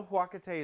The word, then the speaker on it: Huacatay: I know huacate is a very earthy kind of flavor. Huacate substitute. That is huacate spelled Huacatay. Huacate. Spell it how it sounds.